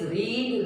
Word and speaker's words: read: Now this read, read, read. We write here read. This is verb. Past tense will be read only, but we have to speak. Pronunciation will be read. And past participle also read. Read, read, read. Okay? Spellings will be same.